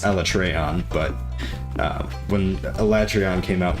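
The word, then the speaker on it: Alatreon: My favorite was when Elatrion came out, which they pronounce Elatreon, but when Elatrion came out in World, that was really cool.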